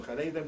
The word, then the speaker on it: Haredim: You call them Haredim, we call them fervently Orthodox. I think the reason they call them fervently Orthodox is because most readers cannot pronounce the Ch of Haredim.